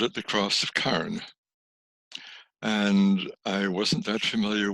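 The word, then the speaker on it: Carrin: And I called it the Cross of Carn, C-A-R-N. And I discovered only recently, accidentally, that is the cross of, well, the Cork pronunciation, Carn, but it's spelled C-A-R-R-I-N.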